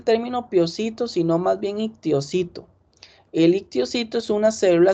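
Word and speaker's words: histiocito: A mí no me gusta usar el término piocito, sino más bien ictiocito. El ictiocito es una célula, es un macrófago, se escribe con H al inicio.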